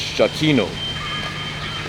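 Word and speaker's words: Giacchino: So for the composer Michael, his last name is pronounced Shakino.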